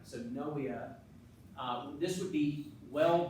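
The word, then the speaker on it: pnea: the Greek meaning breath you don't pronounce the P it's silent so noea uh this would be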